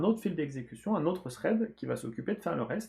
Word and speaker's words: thread: traitement, un fil d'exécution, thread en anglais, hein, thread si on veut essayer de le prononcer comme il faut, qui s'occupe de lire